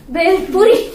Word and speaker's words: bhelpuri: How to pronounce it? Bhel. Be. Bhel. Be. Bhelpuri.